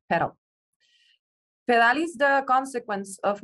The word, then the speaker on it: PDAL: American Artist Documentation Project, also known as PDAL, which, when pronounced in Spanish, means pedal.